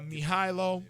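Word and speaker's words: Mihajlo: a little bit more about the album uh mihailo is out now for those that are listening and can't see me it's spelled m i h a j l o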